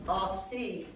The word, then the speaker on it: office: So for those who don't know, the Brazilians very often with that word they will have one syllable and they will say office, or they will have 3 syllables and say office, but it has 2 syllables, Tachi.